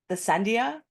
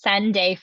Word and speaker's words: Sendai: I'm not going to say it right. The Sendia. Leah, help me. I know you know how to I pronounce believe it. it's Sunday framework. Sende. Okay, thank you, Leah.